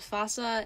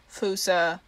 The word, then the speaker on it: fossa: be discussing a creature called fossa in northern america and then pronounced foosta in madagascar or fossi or something for plural it's kind of confusing that's a lot so it's fossa fusa if you're actually saying it right and then psi might